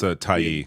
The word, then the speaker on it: Tyee: That's Tyee, is how I think it's pronounced.